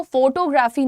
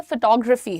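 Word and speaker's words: photography: Next देखते हैं, ये फोटोग्राफी, मुझे फोटोग्राफी का शौक है, बट वो फोटोग्राफी नहीं है, फोटोग्राफी है।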